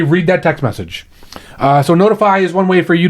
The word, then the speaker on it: ntfy: Okay, I'm going to talk about Notify, and it's spelled NTFY.